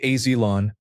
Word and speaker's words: Oelon: Oelon, pronounced Ailon, was abandoned by people across the road.